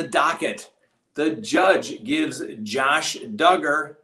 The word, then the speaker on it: Duggar: the judge gives josh duggar rhymes with hugger what he requests be